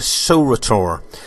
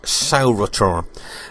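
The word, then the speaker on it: sauroter: And the butt also had a spike on the end called a saurator. It's spelled S-A-U-R-O-T-E-R, saurator.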